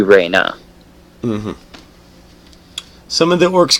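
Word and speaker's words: Rana: can now confirm that her name is spelt R a n a so that would be Reina mm-hmm some of them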